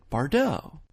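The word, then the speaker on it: Bardot: French actress and singer we just say it like she would say it bardeau so let's recap Israel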